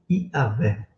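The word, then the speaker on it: Yahweh: Iavé. Entende? I-A-W, I-A-H-W-E-H. Iavé. Ou, em nosso português, Javé. Que os judeus nem pronunciam, porque para eles é como se fosse o nome de Deus.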